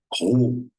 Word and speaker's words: Rho: Como é que a gente pronuncia essa letra? Rho.